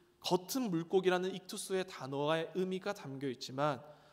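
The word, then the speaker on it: ἰχθύς: 물고기는 헬라어로 익투스라고 읽습니다.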